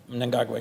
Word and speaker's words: Mnangagwa: And you always correct me on my pronunciation, so I'm going to try my best. Mnangagwa. Mnangagwa, yes. Mnangagwa, thank you, sir.